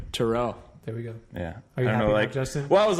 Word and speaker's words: Teruel: now there we go what's your last name Terrell yeah I was like right here we are